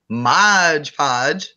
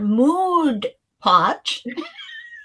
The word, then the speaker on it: Mod Podge: when people pronounce it Mod Podge is the rightful name modpodge people mod his mod podge please that's not moon pot I say mod and